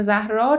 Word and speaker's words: زهرا: عربی داره و خب درسته که ما وقتی اینجوری نوشته میشه زهرا تلفظش می‌کنیم اما من ترجیح میدم به همون جوری که همه دارن این پرونده رو توی کشورهای خارجی تلفظ می‌کنن تلفظ کنم و اونجوری که اصلاً خود پدر و مادر دارن اسم این بچه رو تلفظ می‌کنن به نظرم اینجوری حرفه‌ای‌تره.